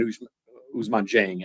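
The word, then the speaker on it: Ousmane Dieng: Uh but the way I I look at Usuzman Jeng actually is how it's pronounced is is lottery ticket and a little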